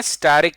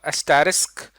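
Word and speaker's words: asterisk: तो हमने एक राइट एंगल ट्रायंगल बनानी है स्टैरिक की, या इसको एस्टेरिस्क इसकी सही प्रोनाउंसिएशन है।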